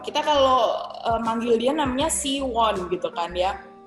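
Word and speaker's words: 시원: Jadi Siwon ini Siwon. Kita kalau manggil dia namanya Siwon gitu kan ya. Padahal cara membacanya adalah Siwon. Siwon, bukan Siwon, tapi Siwon. Won, N-nya harus digigit.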